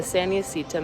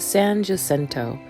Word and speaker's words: San Jacinto: of the day when i realized that i had been mispronouncing the mountain's name the entire trip i now know that it is pronounced san jacinto and i hope that